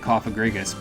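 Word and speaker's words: Cofagrigus: I always pronounced it Cophagrigus, but I suppose you could pronounce it that way.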